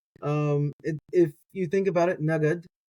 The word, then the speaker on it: נגד: If you think about it, nagad, it sounds like the word a little bit like naked.